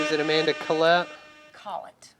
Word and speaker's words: Collett: We got Amanda Collett in the house. Hey. Did I say that right? Is it Amanda Collett? Collett. Collett.